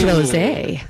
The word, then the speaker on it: Froese: And how do you say that one? Froese. Oh. Froese. Yeah. Like rosé.